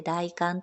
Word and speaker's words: 大寒: んですがえ大館ですね今日から今年は 1 月 20 日から 2 月 2 日までが大館です大きい寒いと書いて大観と読むんですが 1 年で